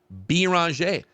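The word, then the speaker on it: Beringer: We are the ones going off of the official pronunciation that they sent to us, which is Bonj.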